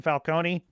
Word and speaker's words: Falcone: as a carmine Falcone the correct pronunciation Falcone you've never tasted desperate